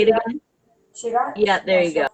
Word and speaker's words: Chugach: as part of the, I cannot pronounce that. Chugach. Say it again. Chugach Yeah, there you National go.